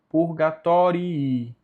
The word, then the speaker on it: purgatorii: Sanguis Christi animas liberans diaco purgatorii. Perceba aqui que tem dois Is, então os dois têm que ser ditos.